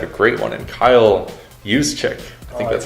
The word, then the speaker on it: Juszczyk: But the Ravens have a great one in Kyle Juszczyk. I think that's how you say it. Yep, Juszczyk.